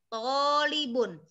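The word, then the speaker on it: طالب: Panjang tonya, tolibun.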